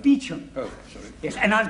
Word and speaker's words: Beauchamp: Calling Mr. Beauchamp. Mr. Beauchamp has been employed by the following firm. It's pronounced Beauchamp.